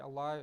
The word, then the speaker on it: Allah: For example, we recite Allah in two different ways. If there is a fatha or a dhamma coming before the word Allah, then it has to be pronounced with a full mouth.